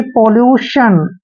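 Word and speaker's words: pollution: ऐसे नहीं करना है तो फर्स्ट वर्ड देखिए दोबारा पी O double L यू टी आई ओ एन देखिए पी का उच्चारण हम दोस्तों प करते हैं ओ को हमने ओ की मात्रा पढ़ना है और डबल एल का उच्चारण हम ल करते हैं और यू को हमने क्या पढ़ना है यू ही पढ़ना है और टी आईओ एन को हम शन पढ़ते हैं यानी कि पोल्यूशन दोस्तों पोल्यूशन मींस होता है प्रदूषण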